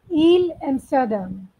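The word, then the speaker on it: Île Amsterdam: It is a French word, dear. So I want you to the pronunciation. So Il Amsterdam. What? So what is the right pronunciation? Il Amsterdam. This is French pronunciation. Okay. Other many pronunciation, but because the French word, we are going to follow the same.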